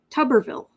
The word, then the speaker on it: Tuberville: Autumn is pronounced like tub, wash tub, not tube. Tuberville. Tuberville?